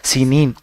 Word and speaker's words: سینین: اور طور سینا کی، اسی کا دوسرا تلفظ ہے سینین، وہذا البلد الامین اور